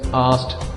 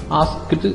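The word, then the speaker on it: asked: അതേപോലെ കുക് വാഷ്ഡ് dress ആസ്ഡ് ആസ്ഡ് ശ്രദ്ധിക്കുക ആസ്ക്ഡ് എന്ന് പറയില്ല അതിൽ കെ സൈലന്റ് ആണ് ആസ്ഡ് ഐ ആസ് ബ്രസ്ഡ്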